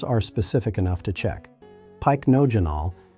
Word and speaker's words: Pycnogenol: Pycnogenol, pronounced pic-no-j-anol, is an extract derived from the bark of the French maritime pine tree.